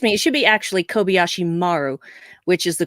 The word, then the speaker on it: Kobayashi Maru: I figured it was probably a simulation, like the Kobayashi Maru that you didn't know was happening. So, right. Excuse me, it should be actually Kobayashi Maru, which is the correct way to pronounce that,